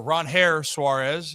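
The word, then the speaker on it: Ranger Suárez: So, we were looking around and you're waiting and it seemed like the Orioles and Ranger or Ronair Suarez is how it's properly pronounced.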